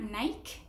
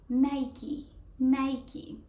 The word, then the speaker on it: Nike: But remember, it's not Nike, it's Nike. Just like it is shown right there.